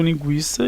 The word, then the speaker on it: linguiça: Nós continuamos pronunciando linguiça e quinquagésimo consequente. Só que o trema foi retirado, né, da língua portuguesa.